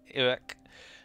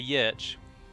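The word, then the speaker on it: orch: And Orc, which is that word there, that is how you pronounce it, I'm afraid. Orc. That is Sindarin for Orc. But it sounds, obviously, really quite similar to the way that we say Orc, but it is spelt quite differently. Many people would see that and probably say Yerch. Which is, of course, incorrect.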